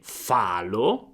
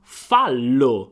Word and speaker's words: fallo: Quindi, dato che abbiamo l' dobbiamo raddoppiare la prima lettera, la L, e quindi non è falo, ma fallo. Fallo.